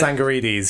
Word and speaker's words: Tsangarides: Is Chris I can never pronounce his Chris surname. Tsangarides, is it? Tsangarides, yeah.